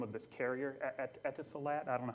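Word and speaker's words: Etisalat: I can't say the name of this carrier etat I don't know how to pronounce it etot thank you um ET salot is a cell carrier in the UAE the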